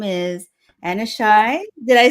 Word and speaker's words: Aneshai: Her name is Aneshai. Did I say it right? Close. No, it was really, really close though. Aneshai.